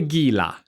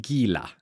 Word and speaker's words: Gila: Next up is the Gila. Yes, I pronounce it Gila, not Gila.